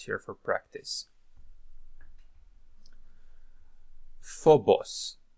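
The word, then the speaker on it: φόβος: move on to more words that we can pronounce here for practice Phobos Phobos sphere Phobos Thanatos Thanatos Thanatos death okay death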